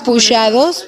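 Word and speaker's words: pushados: Pujados, ¿Cómo se escribe?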